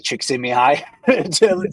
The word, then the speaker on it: Csikszentmihalyi: The way it's spelled is not how it sounds. You have to hear somebody say Mihai Csikszentmihalyi to know it.